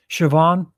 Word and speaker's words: Siobhan: I pronounced the name Siobhan right. Siobhan, came in.